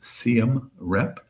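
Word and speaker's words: Siem Reap: Uh then uh to CMR Rep. It's pronounced CMR Rep and that's where um the archaeological site is um in Cambodia.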